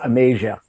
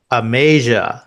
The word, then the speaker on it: Amasia: It's actually pronounced Amasia. Amasia. Yeah, it's Got a it. combination of America and Asia.